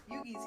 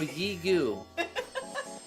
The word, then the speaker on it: Yigu: Yugi's here. Hey, it's Yigu. Oh, Yugi. No, Yigu.